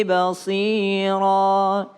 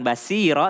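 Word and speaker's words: بصيرا: Bukan sa, bukan basiro, tapi basira.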